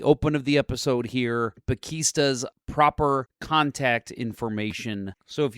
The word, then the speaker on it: Pakesta: Okay, so uh you said it's pronounced Pekista. Pakista.